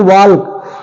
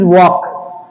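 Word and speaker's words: walk: इसी के similar word W ए एल के वाल्क नहीं this is नॉट वाल्क this is वक वक ओके नेक्स्ट एस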